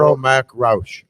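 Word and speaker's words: Earl Mac Rauch: kevin smith mute the mics how do you pronounce the writer's name i've never known how to say it absolutely earl mack roush earl mcrouch and what did you guys call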